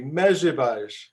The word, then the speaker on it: Mezritch: So everyone say Mezritch, Mezritch. It's not even the hardest town to pronounce.